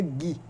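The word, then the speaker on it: ghee: E a manteiga Gui, né? O o GUI escreve GH e E, é assim que se escreve manteiga Gui, ou também conhecida como manteiga clarificada.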